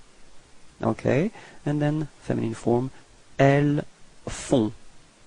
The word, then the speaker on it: elles font: Okay, and then feminine form, elles font. Same thing, on, on, and then final T is not pronounced.